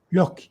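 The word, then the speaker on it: Lossky: no de de Vladimir lovsky Vladimir lovsky que se escribe l o s s k y si mal recuer y sí sí Sí sí sí loskii eh Sí loskii eso es muy interesante para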